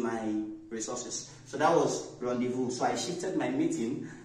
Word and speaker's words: rendezvous: a bit of problem when we come to pronunciation now we have the word it is not Rendezvous it is a French word and in French